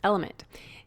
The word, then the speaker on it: LMNT: It's spelled LMNT, but pronounced Element.